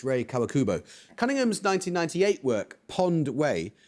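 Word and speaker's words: Rei Kawakubo: No, it's Ray Kawakubo.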